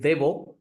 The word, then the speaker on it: Deo: intend to do with Deo so the actual pronunciation of the brand is deo it is inspired by ATI deoa so that is how Deo